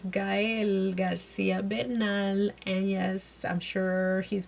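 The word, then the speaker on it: Gael: Gail hello guys and please please pronounce his name correctly look we we struggle as Latinos trying to pronounce y'all names so try to open their names correctly is guy and it's not Gail please stop calling him Gail y'all know who you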